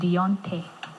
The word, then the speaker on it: Deonte: getting it right uh not really it's actually pronounced deontay dionte yes okay okay beyonce yes okay uh